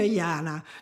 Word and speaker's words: Jana: sometimes blames me for naming her yana because it rhymes with drama but you know she